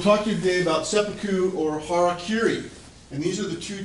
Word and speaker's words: harakiri: you when you take pronounce these characters in in spoken Japanese uh it becomes Hara Kiri Hara is this center